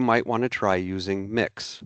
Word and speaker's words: Mx: In my experience, you might want to try using mix. That's MX or pronounced to mix.